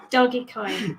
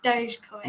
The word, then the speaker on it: Dogecoin: do you pronounce this michael thinks it's doggy coin yeah it is the world thinks it's dogecoin well they're wrong they're wrong exactly dog emoji yeah we